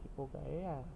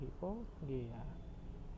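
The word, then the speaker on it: Arachis hypogaea: Bukan hipogaea, tapi bacanya hipogea. A-nya baca E aja.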